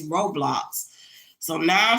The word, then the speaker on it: Roblox: It's Roblox. So now I'm saying it correctly because I was calling it Roadblocks. It's like, nope, that's not it. It's Roblox.